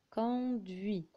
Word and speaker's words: conduit: cuisine des wii depuis il conduit et faites attention le thé ne se prononcent pas fb oui fuit elle